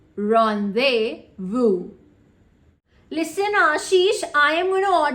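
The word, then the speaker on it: rendezvous: to bury her cat do you know the pronunciation of this word rondes Vu no totally incorrect the correct pronunciation is Ron beu Ron Vu listen Ashish I am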